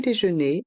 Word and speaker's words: déjeuner: Le petit déjeuner est inclus. Le petit déjeuner est inclus. Le T de petit est muet. Petit. Les dernières lettres ER du mot déjeuner se prononcent et.